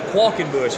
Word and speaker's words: Qualkenbush: Qualkenbush is how you say it.